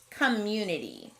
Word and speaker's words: community: in the trap column our next word is community i see a closed syllable c-o-m but it doesn't sound like a short o community that sneaky schwa is showing up again we can handle a schwa sound though and the rest of this word sounds like we'd expect so community is a snap our next word is